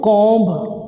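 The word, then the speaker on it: comb: Number 19 के ऊपर जो वर्ड है कंगा, इसको उर्दू में बोलते हैं कॉम्ब। कॉम्ब नहीं है ये, कॉम्ब। Once again is B silent, once again is B silent hair. It इज कॉम्ब, कॉम्ब, इट इज कॉम्ब।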